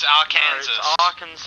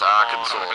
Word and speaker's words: Arkansas: No, it's R. Kansas. No, it's Arkansas.